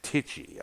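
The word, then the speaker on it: Tichy: formerly of white snake his name is brian titchie i think it's uh it's spelled t-i-c-h-y all right there of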